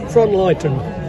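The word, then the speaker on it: Frohnleiten: German, German that one, Frontleiten. Yeah, it's a good old favourite. Now the old ones, like Frontleiten, only have low flowers.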